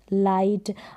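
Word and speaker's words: light: तो GH अगर एक साथ आ जाते हैं तो वो साइलेंट रहते हैं।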